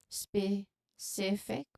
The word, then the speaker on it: specific: So you should emphasize the second syllable of specific. So specific.